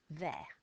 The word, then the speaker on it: vert: And what's our silent letter? T. Vert.